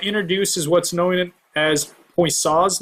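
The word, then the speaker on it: Poiseuille: is what's known as point saws law I believe that's how you pronounce this kind of unique French name but boy saw came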